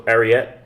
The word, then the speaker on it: Ariete: So Ariete. Ariete is spelled A-R-I-E-T-E.